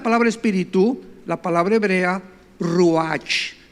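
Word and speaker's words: רוח: espíritu la palabra hebrea ruach tal como suena ruach Roach se pronuncia inmediatamente qué notamos aquí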